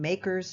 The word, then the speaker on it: MACRS: The final complication with capital budgeting deals with the depreciation method required by the IRS which is called MACRS (pronounced makers) depreciation.